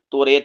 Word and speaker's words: توریت: الٹا لیتے ہیں، نہیں، توریت بھی بول سکتے ہیں، یہ ایک لہجے کا